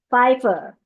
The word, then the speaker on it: 5F1R+: It's not actually 5F1R plus, it is actually Pfeiffer. So it looks like the 5 there is it's obvious. The F1R plus looks like fur.